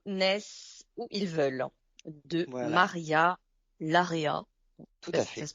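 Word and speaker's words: Maria Larrea: gens de Bilbao naissent où ils veulent de Maria Lara ça se prononce comme ça toujours au livre de poche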